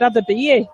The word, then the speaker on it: Adabiye: I think I've been pronouncing his name wrong because the announcer here at Bower Falls just said Adabiye.